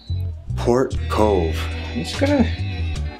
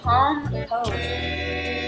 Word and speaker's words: Palm Cove: Port Cove. Hey, this is Port Cove, yeah? You can't get it right. What is this? Palm Cove.